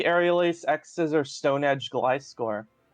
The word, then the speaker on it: Gliscor: Let's see if there's any other Gliscor sets. I'm sorry, Glisker. Don't say it like Glisker. If you're gonna say it like Glisker, you have to pronounce Gligar the same way.